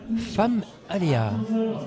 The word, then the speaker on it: Femaléas: Alors, on est avec Virginie et Laurence de l'association femme Aléa. J'ai bien prononcé. Tout à fait. Alors, qu'est-ce que c'est que cette association ? Et bien Famalea, c'est une association qui est née de la